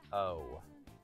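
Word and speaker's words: を: I'm not entirely sure what's after your O. And also, it wouldn't be hiragana O, it would be hiragana wo, which is pronounced O.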